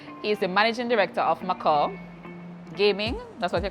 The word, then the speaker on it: Macau: Most of us just know what it as language Macau. is that? English. It's Macau. But a lot of people say Macaw.